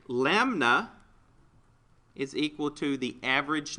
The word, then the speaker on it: lambda: All right, the way that you pronounce that, L-A-M-B-D-A, lambda.